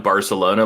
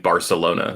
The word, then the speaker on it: Barcelona: Yeah, they pronounce like every C or S they pronounce like with a lisp. Oh, that's how they pronounce it. Okay, Yeah. I thought you were saying like, that's actually how it's supposed to be pronounced. I mean, in Barcelona it is, but everywhere else in Spain does not speak like that. So they call it Barcelona, and then everyone there calls it Barcelona.